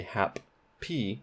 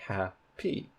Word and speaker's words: happy: know in linguistics that in happy where we have two peas written there's only one pea sound so you don't say happy pea you say happy you don't say app